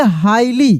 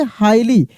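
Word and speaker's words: highly: इसको पढ़ेंगे हाईली। क्या पढ़ेंगे? हाईली। जी एच यहां साइलेंट है। कहने का मतलब जी एच का उच्चारण नहीं हो रहा है।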